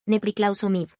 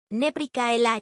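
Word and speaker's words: nepriklausomybė: Tranquilo, se dice, Nepriklausomib. significa independencia. Él intentó repetirlo. Nepricaela, imposible.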